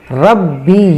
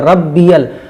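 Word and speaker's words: ربي: आला ये गलत है रब्ब यल रब्ब अल समझ रहे ना आप हजरात सुभाना रब्बिल आला आला सुभान रब्बिल रब्बिल इस तरीके से होगा रब नहीं होगा रब्बिल फिर अला नहीं होगा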